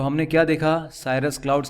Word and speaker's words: cirrus: एक तो है साइरस, इसको आप साइरस बोल सकते हैं, CIRRUS, साइरस वाले बादल।